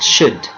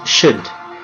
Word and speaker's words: should: please pronunciation it's pronounced should we don't pronounce the letter L it's pronounced should and this one negative